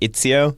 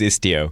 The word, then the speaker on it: Istio: I keep saying itzio, but it is istio.